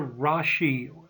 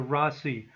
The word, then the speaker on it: Rasi: By the way, you may hear Rashi as opposed to Rasi, or Navamsha instead of Navamsa. You'll hear both pronunciations.